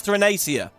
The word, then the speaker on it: Thrinacia: And then, so it's Thrinacia.